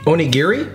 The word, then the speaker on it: onigiri: do the tuna mayo onigiri. Something really small and I noticed that onigiri there, so I was like, onigiri. Onigiri. You gotta say it like fast.